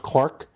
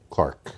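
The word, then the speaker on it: Clerke: to do Agnes clerk it was probably pronounced Clark but it's it's spelled Cler k z ke yeah Clark and you familiar with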